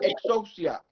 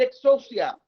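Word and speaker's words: ἐξουσία: y número uno es la palabra exhaust ya x efe exxon siat así como se oye pero se escribe con x existe esta palabra que se usa para autoridad que quiere decir exos ya es el derecho legal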